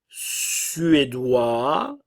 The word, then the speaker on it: suédois: U français la Suède suédois le S ne se prononce pas nous avons le son